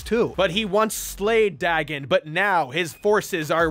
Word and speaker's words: Dagon: sure the ancient dragon digon doesn't come back dagon is his name and how it's pronounced actually so old george